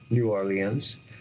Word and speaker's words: New Orleans: Andrew Jackson uh defend New Orleans and that's the way you say it you pronounce the E and the a New Orleans uh I happen to have been conceived in New Orleans on the Mississippi Rivers